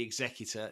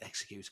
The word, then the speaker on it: Executor: I love the Executor, or the Executor, as the Americans say, but it's Executor because it sounds cooler.